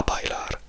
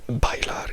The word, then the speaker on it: bailar: E a invece in bailar invece della B che è quella che si scrive, se io invece scrivessi una V e la pronuncia non cambierebbe.